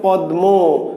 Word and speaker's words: পদ্মা: তাহলে লেখা আছে পদ্মা, কিন্তু আমরা উচ্চারণ করছি কি পদ্মা, পদ্মা।